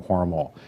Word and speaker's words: Hormel: It's worth noting right off the bat that the family still pronounces the name Hormel. It's a German name, not a French name, as the company was